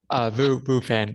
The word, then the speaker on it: Phan: Phan, yeah, Phan.